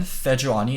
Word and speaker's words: Sejuani: Okay, so also why I say Seju is, in Korean, Sejuani is 4 syllables, Sejuani, and we shorten it to Seju.